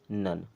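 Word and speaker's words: none: डन एन ओ एन ई इसे पढ़ते हैं नन एल ओ व ई इसे पढ़ते हैं लव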